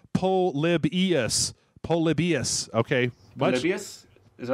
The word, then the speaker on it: Polybius: No offense, Jeff, but can you please stop pronouncing it Polybus? It's pronounced Polybius.